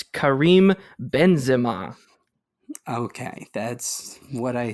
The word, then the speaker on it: Benzema: It's Karim Benzema. Okay, that's what I said, pretty much. No, you said Benzema, and that is Americanized.